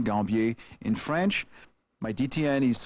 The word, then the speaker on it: Gambier: I can be reached at WSL:/Gambier, Gambier, that's the American pronunciation, Gambier in French.